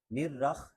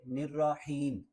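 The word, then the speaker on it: الرحيم: حا ہے۔ الرحمن الرحیم۔ نرخ، ایک تو خا نہیں پڑھنا، حا پڑھنا ہے، اور دوسرا را اور حا کو ملانا نہیں ہے۔ را الگ ہے یعنی نرا، اور حا الگ ہے، حیم، نرا حیم، تو اکٹھا پڑھیں گے نرحیم۔ بسم اللہ الرحمن الرحیم۔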